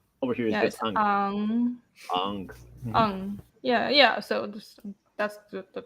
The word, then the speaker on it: Aang: That's how the character is read. Like the Chinese character is Ong. Ong. That's an actual correct pronunciation. Yeah, Ong. That tone. That's the correct pronunciation of the fucking character. Not Aang.